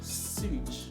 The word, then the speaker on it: sewage: I don't know, but it's pronounced as sewage. Sewage. Like sewage.